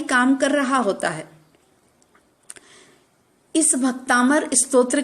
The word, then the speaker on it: भक्तामर: यह बात समझ लें आज भी कई लोग भक्तामर शब्द शुद्ध रूप से उच्चारण नहीं करते पहला अक्षर गलत बोलते हैं कई लोगों के मुंह से सुना है भक्तांबर भक्तांबर नहीं बल्कि सही शब्द है भक्तामर जिस का संधि